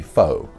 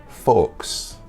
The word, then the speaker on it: faux: like imitation stuff will be faux not folks not folks this was another one in another video that I heard another pronunciation video where this person taught the students folks folks it's not folks never say the X in this word it is foe faux hawk fake foe